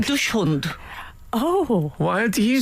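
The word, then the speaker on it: dachshund: of the dog again the Dax Hunt is that wrong dush hunt oh why do you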